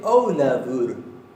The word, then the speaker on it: Ólafur: Dice Ólafur. La F la pronuncia casi como si fuera una V, como si fuera una V corta.